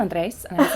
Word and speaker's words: Andres: the first time and told me that I was saying my last name wrong. Oh. And that I'm supposed to roll my R, but I sound ridiculous when I try to do it.